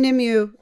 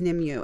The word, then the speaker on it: Nimue: I am Nimue, or it's pronounced different ways in Japan? All the different countries. Okay. Nimue and Nimue.